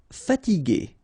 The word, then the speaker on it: fatiguer: Okay, remember that we had this G and E normally, so G, E, R without the U should be pronounced like G. Okay, so if you want to modify the sound and then to have this G, okay, you will have to add this U between the two.